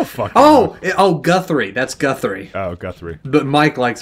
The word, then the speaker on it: Guthrie: even know how to say this guy's name girthy guthy giry I don't oh oh Guth three that's Guthrie oh Guthrie but Mike likes him giry right